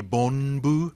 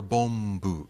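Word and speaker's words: 凡夫: Now it could be Bombu, B-O-N-B-U, or Bombu, B-O-M-B-U. Right? And it's the same N sound or N in Japanese, but whether your lips are closed or not is the issue with pronunciation and spelling-wise as well.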